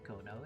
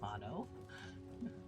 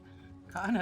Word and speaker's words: Kano: It's not Kono, it's Kano. Kano.